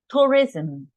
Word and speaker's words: tourism: here right T tourism tourism when we have this combination at the end S and M we the pronunciation is z okay is like communism communism tourism okay this is very common